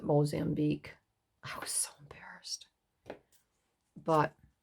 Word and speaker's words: Mozambique: no i i know that's the mosian bq and um he said you pronounce it mozambique i was so embarrassed